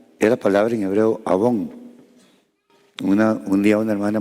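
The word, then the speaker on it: avon: Pero se escribe así. A V o N. Abón.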